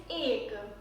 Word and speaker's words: एक: Well, Hindi pronunciation for 1 is ek.